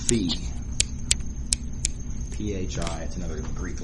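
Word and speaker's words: phi: symbol that we're using to represent that is pronounced feet pH is another Greek letter so we have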